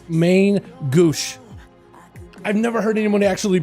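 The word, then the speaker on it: Main Gauche: It's main gouge, at least. That's how I would pronounce it normally, but it's French. It's like Megouche. Megouche, I think. I don't... There's gotta be... I've never heard anyone else try to pronounce it. I've just heard my comment section in my chat telling me, get Dal, it's main goosh.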